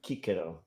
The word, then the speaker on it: Cicero: classical pronunciation, Kikero.